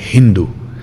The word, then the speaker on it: Hindu: es Irán, Irak, dice, en vez de decir Sindhu, pronuncian con una H aspirada y dicen Hindu.